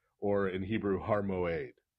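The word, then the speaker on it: מועד: And the reason you get a G in there is that Moed has, for language nerds, Moed has an ion in it. Oh. Which was originally pronounced as a kind of a G sound.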